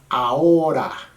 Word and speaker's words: ahora: But as you know, probably if you don't know, in Espanol, the H's are silent. So in this case, the H would be silent.